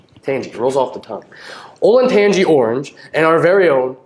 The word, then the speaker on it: Olentangy: bands will be airsville evergreen limashawnee slovenia northview olynyk digi actually it's pronounced olen tanji oh thank you drake olintanji tangies rolls off the tongue olentangy orange and our very own band of class